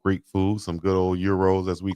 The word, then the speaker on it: gyro: Yeah, you go in the South somewhere and they'll pronounce it how we see it. That's gyro, but euros as we call them, I love them.